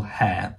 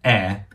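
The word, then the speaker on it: heir: on the private plane of a Texan oil hair air hair it's spelled hair with a h but it's pronounced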